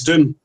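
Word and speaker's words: Doum: 3 called Judge Ulysses Doom. And it's spelled D-O-U-M, like the Doom tree from Chad in Africa.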